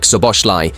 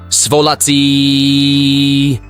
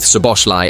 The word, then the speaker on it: Szoboszlai: In that media appearance, Guardiola mispronounced both Szoboszlai and Gravenberch's names. He said Salah, of course, but now with Svolaci and Gravenberch, so they are fantastic.